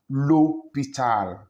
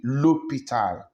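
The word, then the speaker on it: l'hôpital: hospital Lupita you see the H there is mute it's silence is not pronounced lopital that's why we have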